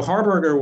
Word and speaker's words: Harberger: Am I pronouncing that correctly? Harberger, yeah.